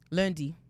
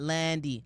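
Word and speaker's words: lundi: Lundy. Lundy. Lundy. Landy. Not Landy. L. I'm not doing that. Like Landy. Lundy. Lundy. Lundy.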